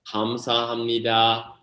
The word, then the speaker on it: 감사합니다: It's 감사합니다.